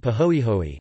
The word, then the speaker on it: pāhoehoe: Two types of lava are named according to the surface texture: ah, pronounced ah, and pahoehoe, paho, eho, e, both Hawaiian words.